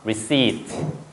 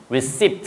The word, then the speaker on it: receipt: 요거 발음 P음이 없어요. 그거 꼭 기억해야 돼. P발음 없습니다. 그래서요 발음하지 않습니다. 그래서 receip. 됐죠? receiped 이게 바로 영수 중이에요. 그죠? receiped receipt 그러면 안 돼요.